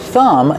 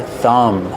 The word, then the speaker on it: thumb: Remember, with thumb, the B at the end is silent. This is your thumb.